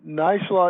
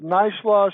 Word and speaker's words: Neishloss: you pronounce that then nice law it was pronounced nice loss I've heard people say nice la have heard people try